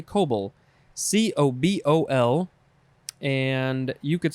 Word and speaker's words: COBOL: grandes yep next is kobol i think you would just say cobol c-o-b-o-l and you could